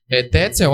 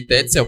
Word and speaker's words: Tetzel: Essa pronúncia também é do autor do livro no vídeo. Tetzel, amando da igreja, ele começa a vender o que se chama de indulgências.